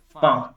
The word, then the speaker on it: faim: Faim. Yeah. J fam. It's AIM combination nasal sound.